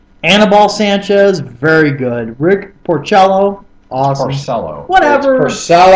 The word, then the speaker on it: Porcello: Rick Porcello, awesome. Porcello. Whatever. Porcello. I've never heard anybody say Porcello other than you. Play a cello.